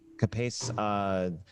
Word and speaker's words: CAPACE: And I want to say is it pronounced CAPACE? Is it CAPACE? That's right. Yeah. CAPACE.